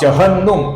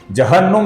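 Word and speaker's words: जह्नु: जहन्नुम शब्द में कैसा ह पहले आता है न बाद में आता है। उसको आप याद रखिए और इसका उच्चारण सही तरीके से कीजिए।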